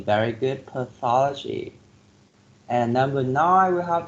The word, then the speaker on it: pathology: pediatrics 7f yes pediatrics number eight pathology pathology four syllables and you put the stress on the second syllable pathology you mess with e very good pathology and number nine we